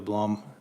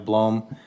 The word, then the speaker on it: Blom: site plan of the Blom. Am I saying that right? Blom? Blom. Blom? It was blown. You had it right. Halfway in between? You're Blom? right. Okay. I've been saying it wrong.